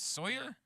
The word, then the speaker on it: Salyer: And then looks like Salyer. It's Sawyer.